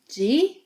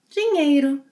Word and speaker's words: dinheiro: Then we have the NH sequence, which you already know must be pronounced as one sound, ñ, ñ, yeah?